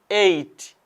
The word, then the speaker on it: ate: past and become 8 this one is pronounced 8 just like number 8 don't say H it